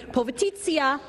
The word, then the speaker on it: Povitica: Povitica. Yes, that's how you say it, Jane, he's saying.